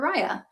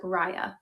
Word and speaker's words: Riah: And I'm showing the color, this is Hazelwood Brown, which is one of our newer colors that we have introduced for Riah, which I was mentioning, this is a really